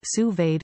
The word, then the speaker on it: sous-vide: anywhere via your smartphone what to cook sous-vide pronounced sous-vade cooking offers the perfect level of doneness for